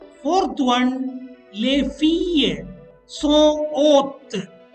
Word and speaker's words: haute: Fourth one, les filles sont hautes. H-A-U-T-E and H-A-U-T-E-S. Same pronunciation, haute.